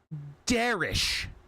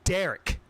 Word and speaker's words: Darish: constantly harass them saying, say my name, Darish. Because that's how his name is pronounced, but we don't fucking call him by his fucking name. We call him Derek. And they would always say Derek. No, that's not how my name is pronounced. It's Darish.